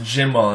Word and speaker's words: Gimel: Gemal is kind of a hard G. So a G is a version of it. Some Jews pronounce it Jimal, and Jimal and Gimel both derive from the original Ga.